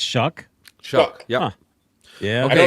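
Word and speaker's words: Shough: is that how you say it? It's Shuck.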